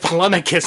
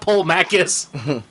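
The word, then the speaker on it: Polemarchus: faces, saying, "You idiots, it's Polemachus, not Polmachus."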